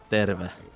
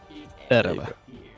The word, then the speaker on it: Terve: Alright, so for anyone wondering how you actually say the word, it is Terve. Terve.